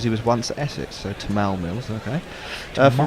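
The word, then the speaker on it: Tymal: uh diana pedentry alert tymel mills apparently pronounced his name as tamal tomorrow i know i i know only because he was once essex so tamal mills okay if we're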